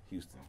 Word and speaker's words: Huston: It's Houston? No, it's Houston, yes. Oh, okay. Wait, how is it spelled? H-U-S-T-O-N. So my name just spelled differently. Like, okay. So that's a good thing. My name spelled differently, but it's pronounced Houston. Yeah, man.